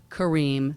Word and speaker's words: Careem: And if you're tweeting, please use the hashtag Yalla Kareem, spelled Y-A-L-L-A, Kareem, spelled with a C, like Kareem.